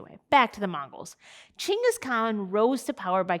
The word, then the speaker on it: Chinggis: with the name of genghis khan which actually isn't even how you say it it's actually chingas khan this actually often happens